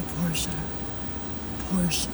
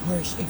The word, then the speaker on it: Porsche: There's a Porsche. I say Porsche. Xavier says Porsche. To me, the word Porsche would be spelled Portia. If you're going by the English pronunciation.